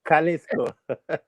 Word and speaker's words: Jalisco: pronounce it Yeah. wrong. Jalisco.